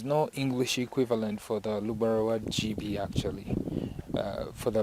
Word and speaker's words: Lugbara: Most of our colleagues from the southern part of Uganda usually pronounce it as Lugbara, but we don't pronounce it that way. We say Lugbara. So it's a glottal sound. It's from inside, Lugbara.